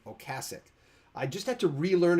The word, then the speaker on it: Ocasek: in addition to Rick Ocasek until like 3 years ago. Remember, or Cass. It's Cass. It's Mama. Think of Mama Cass, because it's not Ocasek. It's Ocasek.